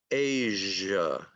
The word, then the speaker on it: Asia: And this word is also a voiced consonant, and it's pronounced Asia, Asia, and it's voiced, Asia. Okay, some people forget to voice it, and they'll say Asia, but it's voiced in English.